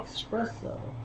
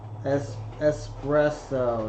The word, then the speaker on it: espresso: Yeah, coffee flavored coffee with Oh, espresso. Espresso, not espresso. Espresso. Alright. There's no X in espresso.